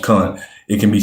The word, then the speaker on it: Khan: It is noteworthy that while Khan, I know it say can, but it's pronounced Khan.